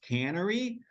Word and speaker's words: Cannery: yeah absolutely um and just for clarity purposes right it's Fields Cannery um we've actually got that we've gotten that a bunch of times which is why we actually put the uh pronunciation um inside that if you can see it on my background there um Canary um it's the equivalent of a brewery or a winery but a cannery is in a cannabis space so